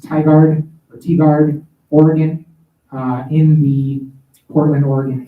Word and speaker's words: Tigard: So actually it's Sunday, the Sunday of that weekend, and it will be in, I want to say it's pronounced Tigard, Oregon, in the Portland, Oregon area.